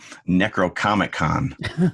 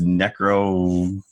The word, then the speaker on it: Necronomicon: I thought that the Book of the Dead, they kept referring to it as Necrocomic-Con. And I'm like, that actually sounds like a good, I'd go. But it was Necronomicon. Nomicon. That was one syllable off there.